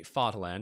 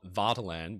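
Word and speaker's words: Vaterland: is the Fatal land I say fartland and not vataland because in the videos that I made to talk about the ball and Trio a lot of German speakers were absolutely outraged that I mispronounced the word uh Fatherland pretty cool huh um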